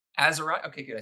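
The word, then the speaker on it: Atzerodt: name how do you say aerot aerot y aerot okay good I said it right him just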